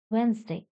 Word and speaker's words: Wednesday: first one is Wednesday D is silent here w e d n s d y it is not W St not like this Wednesday second one is s